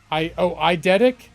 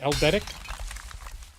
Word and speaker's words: eidetic: Eldetic? I thought your I was an L.